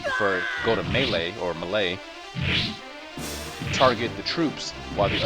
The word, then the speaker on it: melee: to the malay command i've always called it melee but i think malay says it's french right is the correct pronunciation because you know that's so important on the internet but i care i care so malay it is say you have troops such as